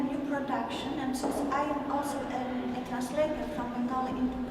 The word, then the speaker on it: Amal: Amal in Bengali pronunciation would be Amal.